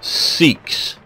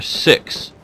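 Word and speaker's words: Sikhs: coming up like this these guys are seeks or six um I Heard It pronounce both ways and they are from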